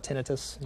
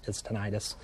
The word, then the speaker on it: tinnitus: say that word it's it's actually debated on how you actually say it okay I call it tinnitus you know other people argue that it's tinnitus the important thing is